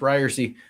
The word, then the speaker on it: Ryerse: as I said on my own podcast, it's pronounced Ryerse, that is available on all of these same places.